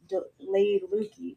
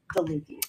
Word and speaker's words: DeLucchi: We always pronounce it laid Lady Lukey, but her name is DeLucchi.